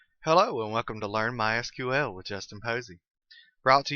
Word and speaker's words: MySQL: As you can tell, I've been calling it MySQL. That is the correct pronunciation. However, it is also commonly called MySQL. If you hear it called that, don't be confused. It's the same thing.